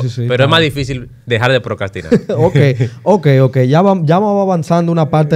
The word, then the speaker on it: procrastinar: lo que pasa es con la r que está entre la c y la a tú no la dices cuando estás diciendo la palabra correcto pero si se escribe